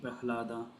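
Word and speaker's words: Prahlāda: So this second, generally, this ahlada, we pronounce it like that, right, Mataji? Prahlada.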